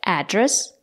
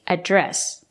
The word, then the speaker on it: address: noun you can say address or you can say address you can stress the first syllable address or you can stress the second syllable address both are correct what's your address or